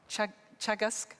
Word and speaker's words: Teagasc: Food Development Authority in Ireland, which is called Teagasc. Brilliant. It was my test for pronouncing a Gaelic word.